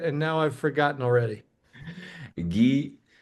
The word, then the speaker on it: Guilherme: Gui, that's going to be short for Guilherme. That's a Portuguese version. And the last name is.